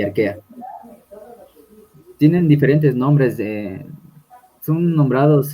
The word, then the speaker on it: Archaea: ya, arquea. Eh, o sea, Pues, sí, está bien. Esa es una forma de pronunciar del latín, ¿no? Cuando tienen CH, es como si tuvieras una K, arquea.